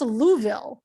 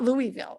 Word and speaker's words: Louisville: And also, it's pronounced Louisville, not Louisville. It's Louisville. Yeah, it's Louisville. Louisville. If you're not from it, it takes a while.